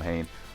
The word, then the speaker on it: Hein: or excuse me haynes i know i'm so used to because everyone calls them hein but i'm going by the japanese pronunciation they say haynes so i try to call him hain so characters like taylor